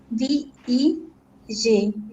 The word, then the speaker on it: beg: It is hard G sound, yeah? Okay, remember that Beg. G has 2 sounds, soft G and hard G. This is hard G. Beg. Bake. Ga, not ka, yeah?